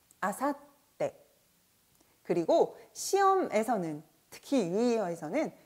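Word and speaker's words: 明後日: 아사떼, 아사떼.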